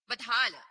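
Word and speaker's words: Badhal: ये जो स्थान है इसका नाम है बजोल, बधाल, बजोल नहीं बधाल।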